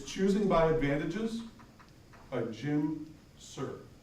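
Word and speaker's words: Suhr: by Advantages by Jim Sir. That's S-U-H-R. It's Choosing by Advantages by Jim Sir. And Sir is spelled S-U-H-R.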